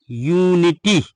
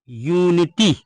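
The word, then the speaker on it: unity: ई आपका वावेल है, इसलिए यहाँ पर यू का उच्चारण यू किया गया। अब जैसे आपका हो जाए यूनिटी, क्या हो जाए? यूनिटी।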